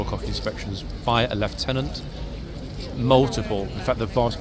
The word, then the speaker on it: lieutenant: Above the Corporal of Horse, we sometimes have at the 4 o'clock a Lieutenant. There we are. folks, I've been practicing my pronunciation. Not a lieutenant, a lieutenant. Okay, British pronunciation of lieutenant.